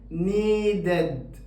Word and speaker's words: needed: ففي الحالة دي هي الحالة الوحيدة اللي بنطق فيها حرف الإي، فبقول needed ed دي بقت موجودة في الحالة الأخيرة دي بس. بقول needed admitted visited avoided وهكذا.